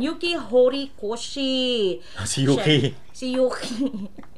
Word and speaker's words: Yuki: Hori Koshi Yuki si Yuki rhymes with cookie cooking ng ina mo